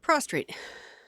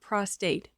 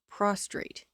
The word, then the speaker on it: prostrate: Prostrate. Not prostate. Prostrate. With an R.